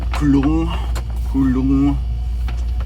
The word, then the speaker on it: kulung: And that's because I'm pronouncing it kulung, where the last N sounds like an NG, sort of. It's basically like you swallow the N.